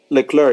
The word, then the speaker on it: Leclerc: to the clerk the sea in the clear is silent yeah leclerc yeah i know i know i was just